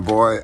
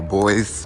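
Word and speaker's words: Boise: YouTube so I'm in boy Idaho or boys boys boy however you pronounce it I believe it's boys uh any who I'm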